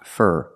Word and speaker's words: for: do for a living the four is pronounced fur fur for a living so what do